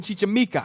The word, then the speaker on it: Chichimeca: The following account in Gomorrah's conquest of Mexico of a certain Chichimeca.